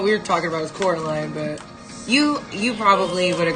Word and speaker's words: Coraline: It's Coraline! Well, he said, Caroline. He said, funny, they even say your name wrong. They called you Coraline, not Caroline at all.